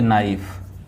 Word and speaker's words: knife: दोस्तों इसे हम पढ़ेंगे नाइफ, इसे हम कनाइफ नहीं पढ़ेंगे, इसे हम नाइफ पढ़ेंगे।